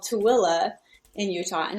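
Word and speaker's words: Tooele: yeah it's spelled manitoua yeah and there's called tooela in utah and it's spelled tully and so yeah i but i'm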